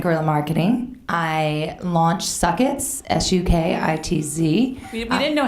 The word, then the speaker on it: Sukitz: I launched Sukitz, S-U-K-I-T-Z. We didn't know how to pronounce it.